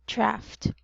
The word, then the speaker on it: draft: draft very good draft it's actually um a short a so it should be it should be pronounced as a draft draft very good so next